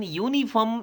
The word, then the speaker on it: uniform: A uniform, the U in uniform is pronounced as ya, yo, a consonant sound.